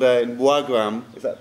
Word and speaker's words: Wagrem: What is a place called in Wagrem? Is that pronounced correctly? Region Wagrem. Wagrem.